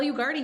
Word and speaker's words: Ugarte: Ugarte, you got it. Like party.